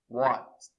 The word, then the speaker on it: watched: E a pronúncia watch não tem vibração, então o som vai ser de T. É um pouquinho difícil, ó, tem que dizer depois watched, watched, watched.